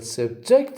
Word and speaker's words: subject: subject as in he'll subject us to criticism he'll subject us to criticism i say subject subject so what do i say i say the words with stress on the second syllable okay okay that's it